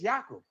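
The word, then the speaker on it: Yaakov: So So Jacob Jacob's real name is Yakob. That's how they that's how they pronounce his name.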